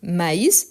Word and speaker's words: maïs: Maïs, c'est différent de mais.